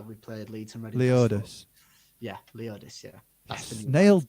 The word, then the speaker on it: Leodis: Leodis.